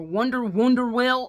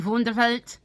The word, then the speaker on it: Wunderwelt: got this secondhand from Wunderwelt or Wunderwell or whatever how you want to pronounce it. It's a German name, so it should be Wunderwelt.